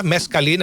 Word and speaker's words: mescaline: Itong mescaline. Tama ho ba? Mescaline ang pronunciation attorney. Yes, sir.